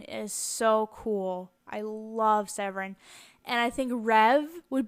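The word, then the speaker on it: Seweryn: one boy's name is severon and you see I have two spellings there the traditional polish spelling is on the top severon the W's are pronounced V's in Polish but it has the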